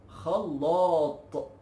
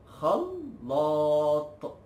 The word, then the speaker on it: خلاط: The mixer in Egypt, we call it خلاط. خلاط. Okay, this is hard to be pronounced, but just practice it. خلاط. خلاط.